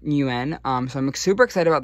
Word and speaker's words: Nguyen: It's Vietnamese, and I tried looking it up. But I think it's pronounced Nguyen.